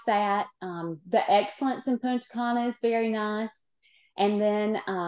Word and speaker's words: Punta Cana: Am I pronouncing that correctly? Punta Cana. Punta Cana.